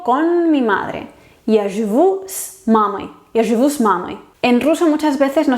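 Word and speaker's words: мамой: En instrumental, cuando es compañía, por ejemplo, con mi madre, pues sería mamai. Sí se escribe oi, pero la o se pronuncia reducida, mamai.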